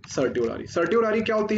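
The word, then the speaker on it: certiorari: Rate सर्टी ओ रारी, इसको मैं pronouns तो रियल में करते हैं सारी सारी, पर इसको बोलते हैं सर्टियोरारी।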